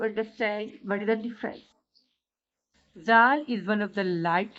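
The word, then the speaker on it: ذال: Zal is one of the light letters, but Zo and Zod are heavy letters. Zal is pronounced from the tip of the tongue with the incisor, with the lower side of the incisor.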